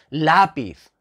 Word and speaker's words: lápiz: pues la por qué por qué decimos lápiz no decimos lápiz lápiz y además lleva una tilde eso es símbolo inequívoco de que es la sílaba tónica otras nos llevan ahora